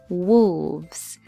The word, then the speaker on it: wolves: from far away our next word is wolves wolves when you're saying this word you can pronounce it this way w-u-l VZ wolves this